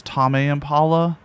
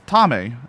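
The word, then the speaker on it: Tame Impala: honest talk from lasso I thought I was pronounce tomame Impala for like two years cuz like Impala okay you pronounce Impala like Impala so it's tamey it's just a name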